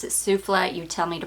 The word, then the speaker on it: Souffle: When I pronounce it souffle, you tell me to pronounce it souffle.